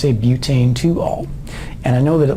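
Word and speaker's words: butan-2-ol: on a four carbon chain then it's a butane to all and I know that it looks like it should be pronounced Butte an to all but it's a butane to all because that's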